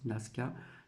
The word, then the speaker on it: Nazca: Donc les géoglyphes de Naska, donc c'est noté N A Z C A mais ça se prononce Naska sentit l'œuvre d'un peuple primitif.